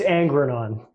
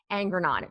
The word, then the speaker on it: Angrignon: It's Angrignon. Angrignon. Angrignon. There we go. The second G is silent.